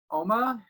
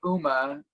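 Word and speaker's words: Umma: sandra oh horror film oma i want to say uma because that's not how they say it it's korean for mother and it is uh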